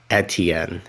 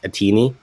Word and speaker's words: Etienne: doing i hate that basically i've mispronounced his name for a very long time and alex was very nervous that i would go on this podcast and call him travis atini so i felt the